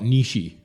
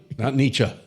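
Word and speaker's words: Nietzsche: more welders that can, you know, talk about Nishi." And um, you know, uh, by the way, thank you for saying it properly. Oh, not Nichze. Nicha.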